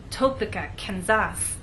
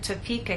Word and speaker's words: Topeka: be misunderstood for example if you tell any American that you have friends in topa kenzas they're going to look at you and ask what country is that in what continent is that on but if you move the stress to the correct place and try again tell the Americans that you have friends in Topeka Kansas now they'll understand there